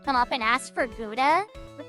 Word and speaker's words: Gouda: up and ask for Gouda, but they didn't know how to say it right, so they would say Guada or Goda.